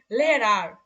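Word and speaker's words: Lehrer: তো দেখেন যখন শব্দের শেষে এ আর থাকবে, যখন শব্দের শেষে এ আর থাকবে, তখন তার উচ্চারণ সাধারণত আ এর মতো হয়, আ এর মতো হয়, মানে এ কিন্তু না, আ। এর উচ্চারণ যার মানে আমরা কি জানি, আ। তখন তার আ উচ্চারণটা হবে আ এর মতো, হ্যাঁ, আ এর মতো। যেমন লেহেরার, লেহেরার, আর লেহেরা, এরকম লেহেরা। আরটা আপনি উচ্চারণ করলে করবেন,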